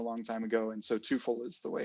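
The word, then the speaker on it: Teufel: the meaning is actually ilka would know but toyful is actually i guess the real pronunciation but um they changed it at some point a long time ago and so twofold is the way it's pronounced our americanized version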